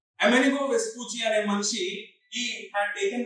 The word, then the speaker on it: Vespucci: కొంచెం కాలానికి ఆయన తర్వాత another Italian sailor అమెరిగో Vespucci, it has to be pronounced as Vespucci, Italian language lo. Amerigo Vespucci ane manishi, he had